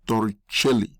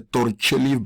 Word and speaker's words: Torricelli: I think the right pronunciation is the Italian name is Torricelli.